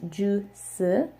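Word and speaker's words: 주스: But the reason why it's pronounced like this, juice, is because whenever shiot is the final consonant in a word, it is actually pronounced like digut. So if you had this at the end, it would just be ju, ju, because whenever they have it as the end of as a final consonant, like how we say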